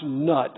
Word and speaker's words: Nut: Egyptian Sky goddess called knew it Inuit many times pronounced nut I like to call